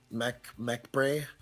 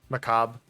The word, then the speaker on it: macabre: And the other thing is, like, sure, like, you get dense mechbray. Macabre. Yeah. Don't ask why it's pronounced that way, I don't get it.